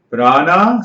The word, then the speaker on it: prana: Prana, Sanskrit word. Pra is a prefix. Nami ana is a suffix. So both becomes prana, 2 syllables.